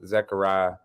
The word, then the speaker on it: Zechariah: Well, my full name is pronounced Zechariah, but I've been going by my whole life just to make it easier on people. But, you know, you got a few people who would pronounce it the right way.